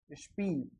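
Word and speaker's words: Spiel: एस पी को आधा से और पे बोलते हैं, या एस टी को आधा से और टे बोलते हैं। जैसे इसका देख लेते हैं अपन, एस पी आई ई एल, स्पील। एस पी आपने देखा होगा स्प, इस पे है तो आधा से और पे हो गया।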